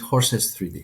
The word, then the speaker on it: HORSES3D: Is it Horst 3D or is it Horst Dead when you pronounce the name of the code that you've developed? I would call it Horses 3D.